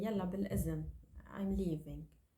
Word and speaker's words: بالإذن: We replace it with za. So, بالإذن, it's like saying with permission, or I need your permission to leave.